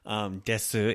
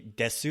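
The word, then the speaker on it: です: is going on with the oo sound at the end of des. Desu is usually kind of left off, that little oo at the end.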